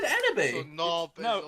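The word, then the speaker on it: Enoby: Enobi, don't you dare mispronounce Enobi's name. I said So Enobi.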